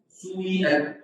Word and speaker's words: سيئة: الإشمام هو أن يبدأ في هذه أن تبدأ بالضم، يعني تقول سيئة تقول عنها سويئة تبدأ بها ضمة خفيفة مختلسة تنكسر، وهذا يسموه الشيوع.